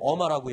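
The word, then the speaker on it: Irma: 어마인가가 발음이 좀 어마죠. 어마어마한 태풍이라고 IR. 어마라고 얘기를 하더라고요.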